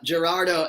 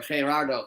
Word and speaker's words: Gerardo: Gerardo as well, or Gerardo, sorry. I have to pronounce the G as an H.